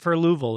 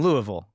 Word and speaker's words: Louisville: I'll split the uprights there, and then Louisville. So there's there is 3 syllables, but it's not an E.